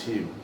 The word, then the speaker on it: Hume: had that ability funny I never know how to pronounce it cuz I think it's spelled Hume but think you say home and then I've heard other people I so I I I chop and change myself home yeah I think I